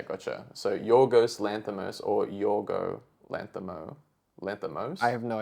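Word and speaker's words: Yorgos: exception speeches is it's yoro it's yoro there's no s oh there we go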